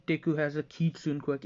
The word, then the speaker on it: kitsune: kyubi no yoko yeah basically kitsune is the english way to pronounce it but if you're going for a more japanese fashion it would be kitsune like when you say kitsune bai which is fox fire and so on and so